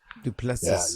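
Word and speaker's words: Du Plessis: uh how do you say his name driskis duplessis duplessis yeah you're talking about two guys that are really good when it comes to the stand-up and so that I you look at this duplessis comes from a complete stand-up background he's really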